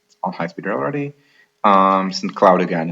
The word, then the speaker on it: St. Cloud: So there will be from Minneapolis, not to St. Cloud, which is the French pronunciation, but to St. Cloud, which is there's a commuter train, but it only runs rush hour.